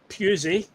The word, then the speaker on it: Pusey: So obviously a new signing Jamai Simpson Puzzy. Uh okay, that's how you pronounce his name.